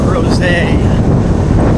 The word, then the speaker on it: Crozet: 1/2 more miles into crows I apologize for all the times I have mispronounced and probably will mispronounce cros as grette the t is silent like it's a French word and where are we